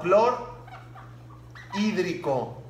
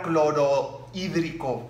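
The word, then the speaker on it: clorhídrico: el cl es cloro le quito la o clor hídrico para que no diga cloro hídrico no juntar la O con la i Aunque la H está escrita al momento de pronunciarla la O y la ahí van juntas el número tres ácido y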